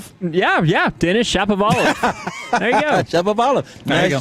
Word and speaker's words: Denis Shapovalov: Denis Shapovalov. Yeah, Denis Shapovalov.